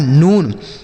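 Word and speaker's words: noon: एन से हो गया नो, एन से नो, डबल ओ का उच्चारण बड़ा ओ की मात्रा, यह लिखा है नून।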